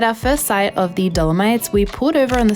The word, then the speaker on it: Dolomites: them also I'm sorry I keep pronouncing it wrong throughout the whole video I keep seeing the limities like Yosemite instead of dolomites anyway our first two